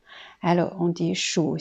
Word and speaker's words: 数: En tant que verbe, c'est 3e ton qui veut dire compter, donc 数. Alors, on dit 数星星, ça veut dire compter les étoiles.